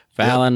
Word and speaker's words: Fallon: I have been pronouncing her name wrong. Fallon, yep.